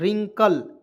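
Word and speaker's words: wrinkle: अब देखिए यहाँ पे डब्लू को काटेंगे, यहाँ देखिए RI से RINKLE, रिंकल, कैसे पढ़ेंगे इसको भी एक एक पॉइंट को समझा दे रहे हैं।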